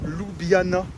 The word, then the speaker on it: Ljubljana: Aujourd'hui, Coupe d'Europe, Conference League face à Ljubljana. On est avec Ben. Toi, tu prononces comment?